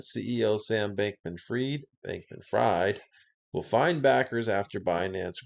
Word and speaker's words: Fried: paying attention Bank man I don't pronounce that word freed it's fried bang man fried but you can see